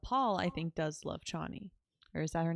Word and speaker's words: Chani: But Paul, I think, does love Chani. Or is that her name? Did I say that right? Shawnee, Shawnee. I think is it. That's it. I think it's spelled with a CH, but it's pronounced SH.